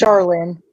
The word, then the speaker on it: Charalyn: Is that pronouncing it correct? It's Charalyn.